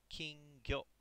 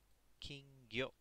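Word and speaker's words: 金魚: So kingyo, kingyo. All right, very short yo.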